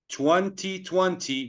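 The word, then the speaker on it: twenty: 2020. We say 2020. 20. The second T, you don't have to pronounce it.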